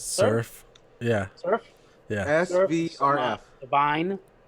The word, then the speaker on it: SVRF: How do you pronounce that? Surf.